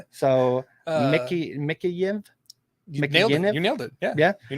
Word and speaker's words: Mikheyev: I can't pronounce this guy's name. So Mikheyev.